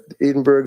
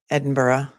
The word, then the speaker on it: Edinburgh: Um, Edinburgh. But that's okay. This is the US. Not everyone can pronounce it properly.